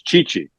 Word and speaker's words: Ceci: Yeah, and so Cody Ceci, right? Yeah, that's Chichi in Italian. So I get all these Italians all the time sending angry notes to TSN Audience Relations saying tell that idiot he's saying it wrong.